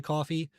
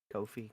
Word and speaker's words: Ko-fi: tip on our Kofi, which I don't know if it's actually pronounced Kofi. I've heard people say coffee. I I just I I just think it's Kofi, so we're just going to go with that.